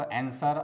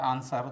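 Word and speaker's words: answer: दोस्तों, इसको आंसर और आंसर दोनों पढ़ा जाता है। आंसर अमेरिकन प्रोनाउंसिएशन है और आंसर ब्रिटिश प्रोनाउंसिएशन है।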